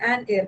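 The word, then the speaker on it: heir: इस एयर का H silent है तो एन एयर करना।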